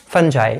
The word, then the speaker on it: fungi: Okay, pronunciation यहाँ पर depend करता है, हम इसको बोल देते हैं FUNGI। फंजाई, इसको हम बोलते हैं अगर